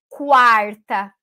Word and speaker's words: quarta: Mas se eu disser quarta, não. Porque daí, nesse caso, eu estou pronunciando o U. Quá, quá, quá.